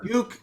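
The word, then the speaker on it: Ducque: So Duke is spelled D-U-C-Q-U-E.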